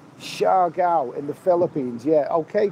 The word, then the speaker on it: Siargao: Okay, Barry from EastEnders, it's pronounced Siargao in the Philippines.